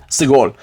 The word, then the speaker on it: segol: Segol. All right, segol right here. Take this down. Segol is going to be an A sound.